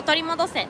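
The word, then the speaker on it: 取り戻せ: Jiyu o torimodose.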